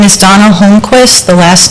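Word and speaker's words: Holmqvist: My name is Donald Holquist. The last name is spelled H O L M QV like in Victor I S T.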